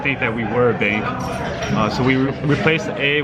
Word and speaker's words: Bxnk: So it's pronounced bank.